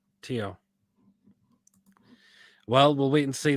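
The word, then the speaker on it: Thiaw: Malik, is it Tio you pronounce his surname? Malik Tyak, I think. Tio.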